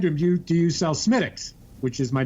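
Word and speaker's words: Smithwick's: Because I said, it's pronounced Smittix, but it's spelled Smithwicks.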